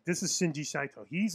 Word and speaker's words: Shinji Saito: Yeah, spell that. Shin. I got him. SHINJI SAITO.